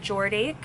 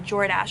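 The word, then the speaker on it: Jordache: so i got these this was jordan oh i'm sorry jordash i always say it wrong 100 cotton high rise and i liked the size they were a size 14.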